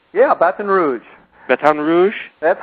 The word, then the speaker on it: Baton Rouge: Did I pronounce that right? Yeah, Baton Rouge.